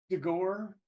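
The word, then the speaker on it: D'Ghor: is your shady character for House of cork dor dor is that what we're call how could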